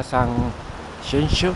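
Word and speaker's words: Sanxenxo: Hoy día de Reyes, detrás de mí está San Xenxo, como dicen los gallegos. La X se pronuncia X aquí en Galicia.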